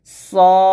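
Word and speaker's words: صاد: আমার সাথে পড়েন সদ এটা কিন্তু আমরা অনেকে সোয়াদ বলি সোয়াদ এরকম তো সোয়াদ বলা যাবে না বলতে হবে সদ এখানে দেখুন বাংলা খুব সুন্দর করে লেখা আছে সদ এরকম ভাবে উচ্চারণ করবে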